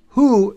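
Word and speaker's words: הוא: Who is how you pronounce it in Hebrew, the letter, the three letters, hey, vav, aleph.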